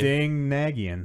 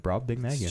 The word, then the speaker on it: Brobdingnagian: Sorry, I was pronouncing slightly wrong. Slightly. Brobdingnagian. No, yeah, that's right. Brobdingnagian.